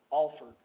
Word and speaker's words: Alford: name was spelled the same way, and he pronounced it, Alford.